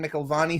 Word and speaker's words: McElvany: So it's McElvany, and at Wackelvany is meant to rhyme with it because I'm wiggity whack.